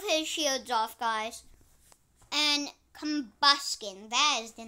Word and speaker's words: Combusken: And Combusken, that is the name.